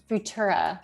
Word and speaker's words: Futura: um and then yeah you have futura that's how you pronounce it i always think about